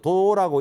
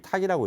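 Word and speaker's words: 度: 여기서 도라고 읽지 않고 헤아릴 탁이라고 읽습니다.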